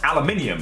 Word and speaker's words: aluminium: It's pronounced aluminium and yet I have to put up with it every damn day.